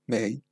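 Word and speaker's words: 名: Ah, questo è Na Mei, cioè in due pronunce. Na è la pronuncia Kun, che quindi di origine giapponese e si scrive in hiragana. Mei è la pronuncia On, quindi di origine cinese si pronuncia quindi, e si scrive in katakana.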